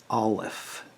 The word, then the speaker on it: aleph: approximate what it looks like anyway this is pronounced alef a-l-e-p-h and it's the first letter of several